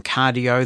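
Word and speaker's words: Qardio: My scale is from Cardio, that is spelled Q-A-R-D-I-O, and as we've discussed here on Living Blindfully, we've got the blood pressure monitor from them as well.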